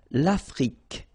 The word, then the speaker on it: Afrique: L'Afrique, same thing here. Final E, it's only the K at the end that you will hear.